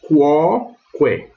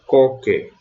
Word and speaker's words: quoque: Então eu vou ler quoque, e não coque, como eu leria em português. Então, quoque.